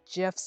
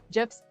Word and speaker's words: GIF: GIFs. Yeah, I say it with okay. GIFs or GIFs. I know graphic begins with a hard G. But like I just say GIFs easier.